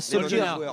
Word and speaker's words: Solskjaer: Faut essayer de prendre l'accent quand on dit les prénoms. Ah ouais, Solskjaer. Je le prononce à la norvégienne.